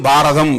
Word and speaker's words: பாரதம்: அவர்கள் பாரத் என்பதை நாம் பாரதம் என்கிறோம் பாரத் மாதாகி ஜெய் என்பார்கள் தமிழிலே உச்சரிக்கிறபோது பாரத் என்று சொன்னால் அது தமிழ் ஆகாது அது பிறமொழி சொல்லாக இருந்தாலும் தமிழ் உச்சரிப்புக்கு ஏற்ப மாற்றுகிறபோது பாரத் என்பது பாரதம் என்று ஆகிவிடுகிறது அதைப்போல தர்மா என்பது தர்மம்